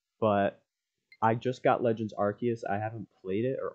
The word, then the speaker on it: Arceus: I know I've really only uploaded like mobile stuff to this channel, but I just got Legends Arceus. I haven't played it, or Arceus, depends on how you say it, but I haven't played it at all yet.